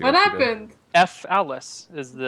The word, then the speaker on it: Falice: F. Alice is how it's spelled.